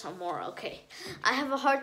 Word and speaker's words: Amora: And he realizes the murderer is actually his long-lost old friend, Amanda. I think I'm not pronouncing that. Just let me check. Amora. Yes, Amora.